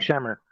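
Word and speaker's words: Scheimer: What's how do I pronounce his shimemer? Shimmer.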